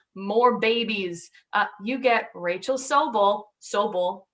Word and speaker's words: Sobel: You get Rachel Sobel, right? That's the Jewish pronunciation.